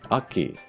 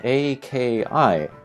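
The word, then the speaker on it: Akki: Aki. This is kind of interesting because we see the two K's there doubled up. If it were spelled A-K-I, that would be like two separate sounds.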